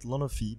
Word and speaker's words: Lonofi: Well, I mean, in French we say it Lonofi, but Lonofi is pretty good as well.